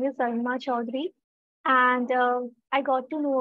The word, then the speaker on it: Arunima Chaudhuri: And if correct my pronunciation, please. No, it's absolutely correct. Hello, everyone. My name is Arunima Chaudhary.